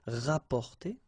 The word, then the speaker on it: rapporter: So same thing here, you don't pronounce the double P, rapporter.